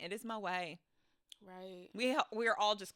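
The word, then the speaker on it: Moët: tea I just found out moette is not pronounced moette the tea in French is silent it is Mo right we we are all just classless animals out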